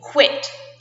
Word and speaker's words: quit: Okay, but we pronounce it like K-W. KW, quit.